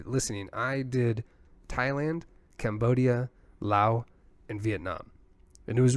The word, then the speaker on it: Laos: Theirs was LAO. So you're technically apparently not supposed to pronounce the S.